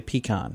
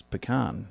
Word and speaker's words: pecan: i don't know because i say pecan and you're like no it's pecan national new york day